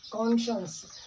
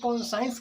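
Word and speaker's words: conscience: अगली लाइन देखिए मित्रों, हुज कॉन्शियंस, हुज कॉन्शियंस। मित्रों इसको कुछ लोग कॉन्साइंस कहते हैं, that is wrong pronunciation. The right और करेक्ट प्रोनाउंसिएशन इज कॉन्शियंस।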